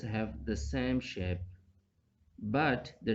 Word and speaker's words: ح: This Ha is pronouncing from the middle throat, and this Kha is pronouncing from the upper throat.